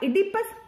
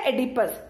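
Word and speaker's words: Oedipus: दोस्तों, पहली important theme है द इडिपस कॉम्प्लेक्स। अब दोस्तों, आप इसे इडिपस या एडिपस दोनों नामों से पुकार सकते हैं, बिकॉज गूगल पर इस वर्ड के मल्टीपल प्रोनाउंसिएशंस गिवन है।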